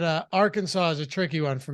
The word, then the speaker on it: Arkansas: state legislator making the Arkansas pronunciation official ever since Americans have gone along with the s-list first syllable stressed version of Arkansas so they had an